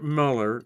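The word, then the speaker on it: Mueller: The first six Rangers failed and George Miller, George Miller, I mean spelled like Müller.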